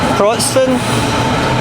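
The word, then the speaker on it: Wrocław: I'm pretty sure Wroclaw. You know Polish, Ross? Is that how it's pronounced?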